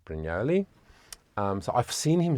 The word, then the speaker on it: Brugnoli: I saw his name I thought it's very Italian Luca brunoli but of course they are British so they just say they just pronounce it broli um so I've seen